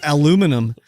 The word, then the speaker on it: aluminum: you british or something why do you say aluminium that's how you say it that was aluminum aluminum actually both names are correct apparently i looked this